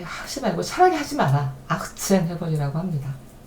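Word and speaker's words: achtzehn: 그 다음에 18번 18은 아흐트 첸인데 발음을 할 때 아흐트첸 하면은 이것도 이제 난리가 나잖아요. 이게 치음이 계속 겹치는 걸 좋아하지 않아요. 우리도 싫어요. 그죠? 그래서 틀을 살짝 약화해서 발음합니다. 아흐첸.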